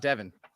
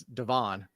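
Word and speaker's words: De'Von: It's not Devon. It's Devon. So Oh!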